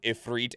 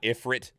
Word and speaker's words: Ifrit: on Phoenix you know I didn't learn until like very recently in the last handful of years that it is pronounced ifreet and not Ifrit does it light up